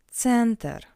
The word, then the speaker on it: центр: Центр. Центр. Since this word is of foreign origin as well as stress, we pronounce «е» as «э».